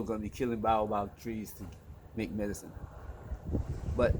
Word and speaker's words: baobab: Baobab. Let me pronounce it correctly.